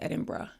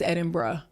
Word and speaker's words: Edinburgh: or three times and they was like it's Edinburgh. It's Edinburgh.